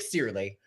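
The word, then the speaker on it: Cearley: Nick Steerley. Steerley, okay, because you can pronounce it any number of ways, and I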